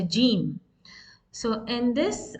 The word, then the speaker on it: ج: the articulation point for Jim? What is the articulation point here? As you can see in this picture, the tongue, the middle of the tongue is touching the upper roof of the mouth, and it is pronounced